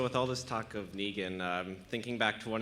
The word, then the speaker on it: Negan: it be Negan or Negan it's Negan okay it's my joke as I go uh it's pronounced like Megan like I'm saying Megan wrong so like when someone